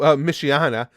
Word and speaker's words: Michiana: and that's right oh michiana that's pronounced like michigan and indiana merged together okay i miss red